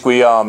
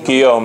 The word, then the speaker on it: Guillaume: I butcher this name, James Guillaume, is that how you pronounce his name? Guillaume, okay. His friend James Guillaume said that Bakunin saw